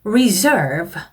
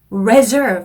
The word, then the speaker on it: reserve: 혹시 동사로 reserve 이런 단어가 나온다면 이거는 reserve 아니고 reserve라고 읽어주시면 되겠습니다. 명사랑 동사랑 시작하는 발음이 달라요.